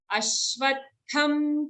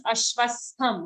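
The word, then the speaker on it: अश्वत्थम्: So here sometimes it becomes ashvastham. Okay, it's not vastham. Ashvatham.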